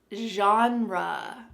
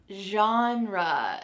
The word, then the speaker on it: genre: The first word is genre. Genre. This pronunciation is very English, but that's how we say it, genre, and it means the style of literature or movie or film or music.